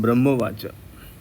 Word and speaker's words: ब्रह्मोवाच: तो ये आधा ब हो जाएगा। और र पूरा और ह में क्या होता है? आधा और मा पूरा ब्रह्मो वाच त्वम स्वाहा